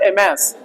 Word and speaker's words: amass: ये वर्ब है, इसका मतलब होता है कलेक्ट करना, किसी वस्तु को बड़ी मात्रा में एकत्रित करना, उसको कहेंगे एमैस, अमास नहीं, एमैस, मैस, ठीक है ना।